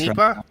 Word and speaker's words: Nipah: that's Nipah. Right. We got the Nipah virus. They're reinstituting airport in the last 18 hours. There have been studies coming out showing that we need airborne protections for the Nipah virus, and they're starting.